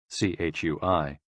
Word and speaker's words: chui: CHUI, pronounced like chui, with a forceful exhale, which is also associated with the kidneys.